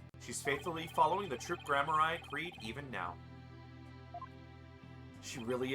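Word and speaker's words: Gramarye: I've gotten so used to saying Grammari when the true pronunciation is Grammari.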